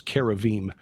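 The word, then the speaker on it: כרובים: you look at for example the uh the cherubim of the Bible and actually the correct pronunciation is kavim um in Ezekiel chapter 1 Ezekiel chapter 10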